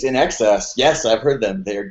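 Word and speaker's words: INXS: In Excess, which uh I remember kids at my school mispronouncing Inces. I'm like, have you heard this new band ines? And I'm like, I think it's In Excess.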